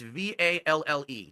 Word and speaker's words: Valle: Alex Valle did not enter this tournament. You spelled his name wrong, June. It's Valle.